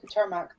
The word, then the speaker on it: Katurmak: Oh yeah, I can pronounce that. It's Katurmak.